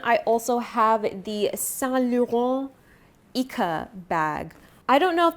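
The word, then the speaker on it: Icare: The the way that it's spelled is I c a r e like I care. But my sales associate at San Lauron said, so I don't know if that's how you pronounce it, but that's what he said, so that's what I'm going to say.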